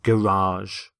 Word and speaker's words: garage: He quietly built a prototype of the machine in his garage, or garage, as some people pronounce it.